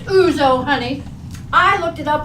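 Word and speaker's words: ouzo: in front that evening had a glass of us no that's pronounced uzo honey I looked it up in the encyclopedia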